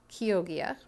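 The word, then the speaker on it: Chioggia: um the next one is the kogia beat it's spelled c h i o g g i a kogia and it's from kogia Italy it's also called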